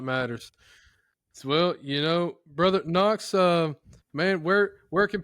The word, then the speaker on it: Knox: Just Knox. Uh, there's a silent K in front of my name and then, uh, last name starts with a K.